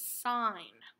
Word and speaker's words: sine: s I in e sine you do not pronounce it's in this is sine the prob the O stands for opposite oh